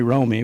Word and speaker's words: Rome: that that's how Emery Romey was the county clerk here, and that's how some of the family pronounces R-O-M-E, not the double M's, the R-O-M-E's.